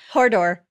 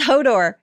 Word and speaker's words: Hodor: Is it like Hodor? Oh, sorry. I said it wrong. Hodor? It's Hodor.